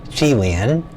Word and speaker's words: Kylin: And I think that's pronounced Kylin. In Chinese, I believe that would probably be pronounced Chee-lee-in, a mythical animal that